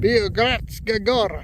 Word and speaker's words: Biogradska Gora: Biogradska Gora.